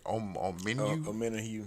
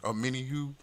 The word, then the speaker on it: Omenihu: Now, it did come out that your boy, how you pronounce the name? Omenihu. Omenihu.